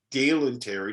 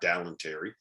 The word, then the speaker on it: Dalen Terry: It's Dalen Terry, not Dallin Terry.